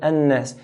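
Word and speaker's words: الناس: Hold the noon in the word jinnah and nas. Min al-jinn. Hold it and the word an-nas.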